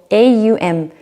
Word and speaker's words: Aum: It's actually 3 syllables, A-U-M. So it's not Om, it's Aum.